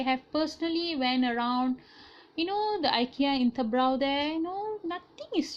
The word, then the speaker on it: IKEA: So if you look at certain brands like IKEA, people are saying IKEA in your pronunciation. IKEA, it's supposed to be IKEA.